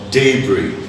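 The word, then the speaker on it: debris: It's silent in D-E-B-R-I-S, it's called daybreak.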